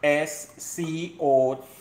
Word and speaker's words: Escovitch: All right, it's Escovitch. Seen? Escovitch. So it's not Esca, it's Esco.